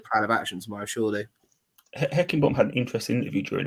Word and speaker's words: Heckingbottom: Paul Higginbottom or Heckingbottom. What is it? Heckingbottom, right? How do you ever say his name's in charge there?